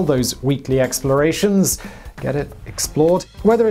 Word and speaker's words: XPLRD: i run another channel called explored which is spelt xplrd because apparently i hate vowels it's more of a